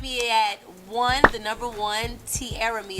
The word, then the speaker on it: Tiaramy: at the number one, Tiaramy. It's spelled like Tiaramy. So it's spelled like Tiaramy, but the Y is silent.